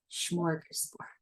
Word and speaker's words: smorgasbord: That's a SHM right there, right? Schmort before you even get, or I mean, it sounds like, but I think it's spelled SM, but smorgasbord.